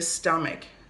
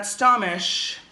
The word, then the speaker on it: stomach: Notice, students, it's not stomish. That is incorrect. No stomish. A lot of students get confused, and I understand because in your language, CH, we say it like sh. But in this situation, in English, this like this, we say stomach. It's like a k sound, okay?